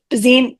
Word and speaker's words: Bazuin: and it was directed by Nicole Bazinet or Bazine.